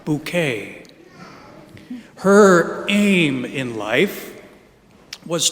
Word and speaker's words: Bucket: This comedy show had a protagonist named Hyacinth Bucket, but she insisted that the correct pronunciation of her name, spelled Bucket, was in fact Bouquet.